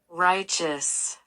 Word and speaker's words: righteous: 첫 음절에 강세를 두고 뒷부분은 이어주시면 되겠습니다. 잘 들어보세요. Righteous, righteous.